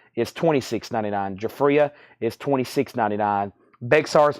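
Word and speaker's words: Bexar: $4.99 and jafria is $26.99 jafria is $26.99 Bear's pronounced bear Chad it's a county in Texas the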